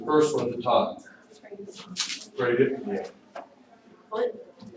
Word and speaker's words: bradypnea: Okay, I want you to listen to this, because here's where pronunciation is important. The first one at the top, bradypnea. What? Bradypnea, Oh.